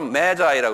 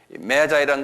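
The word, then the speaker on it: Magi: 이락 지방에 사는 이 동방 박사를 영어로 메자이라고 그러는데, 이제 우리 메자이, 이게 메자이라는 건 뭐냐면 매직이라는 말에서 나온 말인데요.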